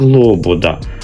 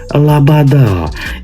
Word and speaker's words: Лобода: читається українською як Олександр пише Лобода читається українською як Лобода А не лабада і а не Александр